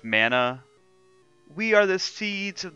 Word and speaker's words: Mana: are the members of the mana family it's pronounced mana we are the seeds of the mana tree